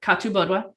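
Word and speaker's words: Catubodua: and then we have katu bodwa uh that the way katubo is spelled is kathu bodwa uh but the h in the gaulish is silent uh her name does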